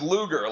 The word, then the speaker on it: Lugar: who primaried out Richard Lugar or Lugar why am I saying everyone's name weird with a u in it Luger Lugar it's Luger like the gun that's how you pronounce it I I know I